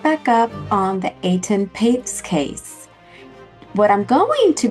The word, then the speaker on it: Etan Patz: I used to say Etan Patz, but it is really Etan Patz, Etan Patz.